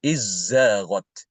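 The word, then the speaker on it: إذ زاغت: Di sini Imam Ibn Hisham ini membaca dalnya itu diidghamkan ke huruf zai. Jadi dibacanya izzaghat.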